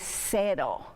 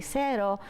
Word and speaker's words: cero: First of all, in the 0 in Spanish is cero. Cero. So we have to remember that when we have our vowels for the E, we have the E of egg. So we say cero instead of 0.